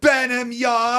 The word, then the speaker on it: Burnham: Will there be that will be the primary Burnham Yard? Yes. Or whatever you want to call it. Broncos. Say it right. Please say it properly. Bamard.